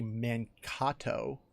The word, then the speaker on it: Mankato: the island these guys is Minnesota State University Mankato like that's how you say it finally and